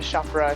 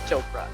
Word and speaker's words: Chopra: with everybody with chakra shamrock it's not chopra it's like if you can say oprah you can say chopra you know it's not